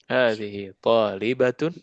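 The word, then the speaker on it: طالبات: lanjut nomor S UM tholibatun hati-hati bacanya pendek ya batun jangan batun tholibatun haulai tholibat thbatun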